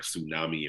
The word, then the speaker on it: tsunami: like certain word like tsunami, and we're like the T is silent, and it's like actually the T isn't silent.